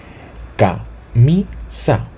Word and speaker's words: camisa: Camisa, ¿sí? Mi, sí, siguiendo el orden que ya hemos establecido, sería la penúltima sílaba.